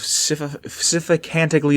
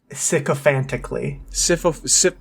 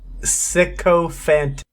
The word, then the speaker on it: sycophantically: Utilizing both, the Master rallied an army of sycophantically devoted humans and super mutants. Close enough. What? How did I say it? Wrongly, but close enough. How do you say it? Sycophantically. Say it again? Sycophantically.